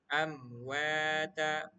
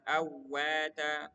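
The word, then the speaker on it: أمواتا: Kita akan membaca contohnya amwata bukan awata.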